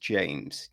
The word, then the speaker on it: Jeymes: is directed by I was told it's James pronounced James James Samuel right he wrote directed um it's